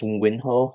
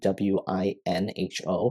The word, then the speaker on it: Winho: So my name is Winho, so you spell it W-I-N-H-O, so Winho, and I'm the instructor for the course.